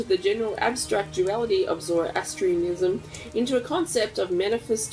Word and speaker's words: Zoroastrianism: That's Zoroastrianism? Yes. How do you know how to say that? Zoroastrianism. Is it Astrianism, isn't it? Astrianism. Astrianism? Zoroastrianism. Yeah. This sect distilled the general abstract duality of Zoroastrianism into a concept of manifest twins born of